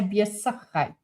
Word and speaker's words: besigheid: But we would just say besigheid. The Z isn't pronounced. It's more of an S.